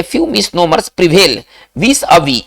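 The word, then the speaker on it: vis-à-vis: दिया जाता है करे ए फ्यू मिसनोमर्स प्रीवेल विस अवी ये देखिए फ्रेंच वर्ड है इसका उच्चारण कैसे करेंगे विस अवि इसको ऐसे करेंगे विस अवी ठीक है ना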